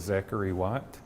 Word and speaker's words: Zachary Watt: God okay har question say your name and spell it for me my name is Zachary watt Za a z a c h a r